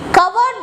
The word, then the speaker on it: covered: Where the grass was green, covered by the snowflakes.